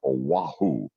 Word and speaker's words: Oahu: Made a jump across the street to doing weekend anchoring and reporting at the ABC affiliate in Oahu. That's how it's pronounced.